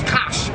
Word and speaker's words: Kush: let people know that ancient Kush actually pronounce Kos when you see Thea